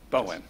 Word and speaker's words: Bowen: For the record, just in future reference, it's pronounced Bowen. Bowen, sorry.